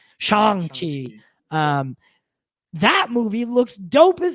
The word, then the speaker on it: Shang-Chi: And then, not to mention, we have Shang-Chi that's also coming, or Shang-Chi, they pronounce it pretty vocally in the trailer, Shang, so I gotta say it right, Shang-Chi.